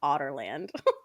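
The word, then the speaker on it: Adarlan: is the the kingdom and how it's actually pronounced otter land I hate it yeah otland that's how it's like canonically said yeah in in the in the audio books I say Ad Darlin me too I was I say like aderin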